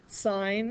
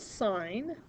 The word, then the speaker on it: sine: Sine is spelled, we use the abbreviation SIN. It's not sin, it is sine.